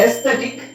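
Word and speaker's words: aesthetic: silent ಅಂತಾನೂ ತಗೋಬಹುದು next ಎಸ್ಥೆಟಿಕ್ ಇಲ್ಲಿ ಎ ಅವಶ್ಯಕತೆ ಇಲ್ಲ ಅದು ಯಾಕೆ ಅಂತ ನನಗೂ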